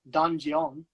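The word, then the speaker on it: 단전: In Korean, it's pronounced donjeon.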